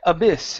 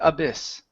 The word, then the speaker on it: abyss: two here uh black abyss instead of black abys okay it's black abyss black abyss okay very